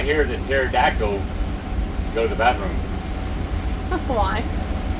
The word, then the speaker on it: pterodactyl: Why can you not hear the pterodactyl go to the bathroom? Why? Because the P is silent.